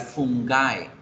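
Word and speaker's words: fungi: Cactus es singular, pero el plural se escribe cacti y se pronuncia cactae. Hongos en singular, fungus, en plural fungae.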